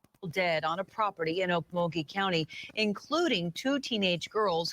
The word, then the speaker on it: Okmulgee: months after four here we go oak okay Mowgli Oak mug Mulkey Okmulgee man bodies were found shot dismembered and dumped